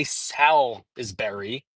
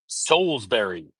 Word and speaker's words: Salisbury: center at Souls Berry I'm not going to screw up the pronunciation of the name of this town I'm not gonna say s is berry I'm going to pronounce it the right way soulsbury hey Keith everybody go